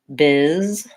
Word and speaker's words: business: And business has first syllable stress. It also looks like it should be busyness because of the I there, but really it just sounds like this, business. So I'm saying the same vowel in both syllables, first syllable stress, and this S sounds as Z. These double S's say S, so it sounds like business.